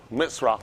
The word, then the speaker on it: mitzvah: Mitzvah is what he put. Mitzvah, for how you pronounce it, mitzvah.